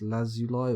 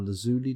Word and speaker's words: lazuli: interested crowns rings bracelets lapis lazuli or lazuli depending on how you'd like to pronounce it should I just buy